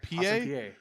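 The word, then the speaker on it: Peay: game is that awesome how do you say that p.a austin yes like an ipa ooh okay austin pa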